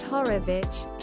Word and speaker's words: Horowitz: and keys books anthony horowitz pronounced horovich and terry pratchett i